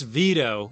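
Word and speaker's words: Vito: to get this way it's veto rhymes with mosquito sardini fault what a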